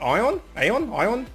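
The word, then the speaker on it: Aion: I have met Raz many times, although Raz and I met on an MMO, Korean MMO called Ion, A-I-O-N, I think it's spelt, sorry, about 7 years ago, and we've been like best gaming buddies ever since.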